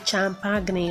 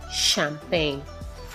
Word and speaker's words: champagne: like the C agent Cho why the G is silent so please so a negatory don't say pass the champ agony or passage champagne no it is passed their champagne I was talking with a friend a while